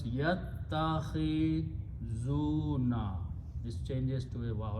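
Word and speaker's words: يتخذون: So, the word becomes yattakhizuna. When you combine this way, this alif is not pronounced and kha carries the kasra. So it becomes yattakhizuna.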